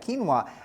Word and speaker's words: quinoa: brown rice oats quinoa if you've never heard of quinoa it does not sound it doesn't sound the way that it's spelled Qi n o a kinoa and Hearty multi-grain Breads